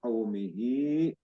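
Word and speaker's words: قومه: sukun ini lin kaumihi jadi bukan ku bukan kau tapi kau dibacanya kaumihi hnya Ini mad silah thawilah dibaca 3 sampai li harakat.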